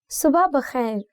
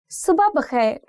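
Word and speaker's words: صبح بخیر: See, there are two pronunciations for this word. One is subah bakhair, and you can also say subha bakhair. I don't know which way sounds more natural to you, but I think it's more to do with your tongue, how you roll it. So usually I say it like subah bakhair.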